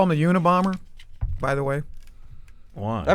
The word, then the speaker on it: Unabomber: You know why they call him the Unabomber? By the way, Why? I mean, maybe he is. it's not uni bomber like a bomber one. No, it's Una bomber Well, why?